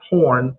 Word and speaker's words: porn: is it's pouring and that's porn rhymes with corn ruining the intimacy in